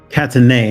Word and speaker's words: Catanei: It is the Catanei, not Nell. Catanei, so Cattanei.